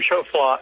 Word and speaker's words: Choflá: absolutely it's incredible uh Professor shofla am I pronouncing your name right sir yes absolutely yes you are right you know a member